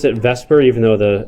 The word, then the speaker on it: VSEPR: to do that is called vs epr people pronounce it Vesper even though the S becomes before the e